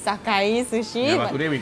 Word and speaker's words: Sakae: Okay, I used to pronounce it Sake Sushi. I Same. never knew that it's Sakae Sushi.